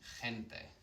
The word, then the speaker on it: gente: However, if it's followed by an E, or if it's followed by an I, it changes the pronunciation of the G. Think of the word people, gente, yeah? Gypsy, gitano. It's a ch sound, it's a bit like the letter J.